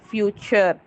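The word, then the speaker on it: future: த TURE together maths அ sound sir. TURE சர். So words பார்க்கலாம். ஃபியூச்சர்.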